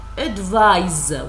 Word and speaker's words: advise: C is the noun advise with s is the verb pronunciation the noun advice with the S sound the verb advise with the the sound okay don't forget this